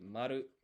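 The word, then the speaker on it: まる: So, zero in Japanese, it's There are three ways to say it. You can say rei. You can say maru.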